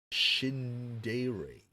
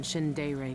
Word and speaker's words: Shindere: Shindere. It's like English, but a bit of like Japanese vibe a little bit.